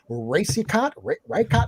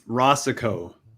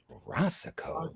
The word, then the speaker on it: Racicot: I hope I'm pronouncing this right. Rey, right, Cot.